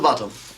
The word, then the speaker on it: Botham: Little Bottom, sir, but it's spelt Botham. And it's pronounced Bottom.